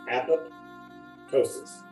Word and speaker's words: apoptosis: Pronounce it correctly, pronounce it as if it's two words, apoptosis. It looks like apoptosis when you write it out.